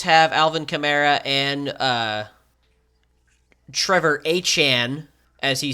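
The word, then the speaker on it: Etienne: Saints have Alvin Kamara and Trevor Achan, as he said his name is now pronounced, which is stupid, but it's his name.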